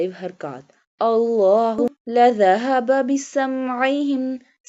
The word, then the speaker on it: بِسَمْعِهِمْ: Allahu لَذَهَبَ بِسَمْعِهِمْ Seen pronounced like a whistle sound.